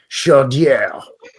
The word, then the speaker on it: Chaudière: the Kennebec and the Chaudière rivers. That sounds fancy. Chaudière. Yeah, nice. Sounds like a French guy saying chowder. Chaudière.